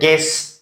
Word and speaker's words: guess: When there is G plus U, U is silent. هر موقعی که به تعقیب حرف G U بیاد پس U silent میشه. بسیار. Like the word guess, حد زدن.